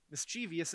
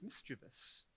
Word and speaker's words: mischievous: especially is especially and mischievious isn't really word it's mischievous you know as a